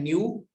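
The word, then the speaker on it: ν: इस इक्वेशन में E stands for energy, ये जो सिंबल लिखा है इस सिंबल को प्रोनाउंस करते हैं न्यू।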